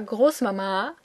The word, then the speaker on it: Großmama: It's kind of old, which you can also see from the fact that it is pronounced with the emphasis on the second A, Großmama.